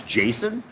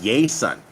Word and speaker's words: Jason: country my name is Jason when I came down here people don't know how to say my name they call me yay son right because Jay's don't have that J sound there's no such thing